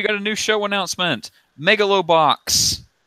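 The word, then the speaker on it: Megalobox: a new show announcement megalo box Mugello box how do you say it my idea it's Megillah box basically boxing future it's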